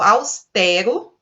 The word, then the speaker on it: austero: Nós temos uma palavra que é paroxítona, pronunciada com E aberto, austero, e o som aí está nessa segunda sílaba. Ciclope, acho que essa daí não dá para errar, né?